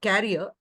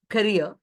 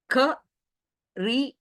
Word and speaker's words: career: Career, so it is not carrier, it is career. Ka-re-a, that is how it is pronounced.